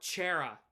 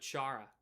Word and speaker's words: Chara: Or Chera instead of Chara.